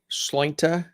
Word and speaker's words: Sláinte: Yeah, I say Sláinte. Because I always say Sláinte, but yeah, it depends on what part of Ireland you're from.